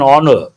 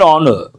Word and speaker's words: honor: Word combinations confer and honor. An honor. Why you tell me? Because h is silent.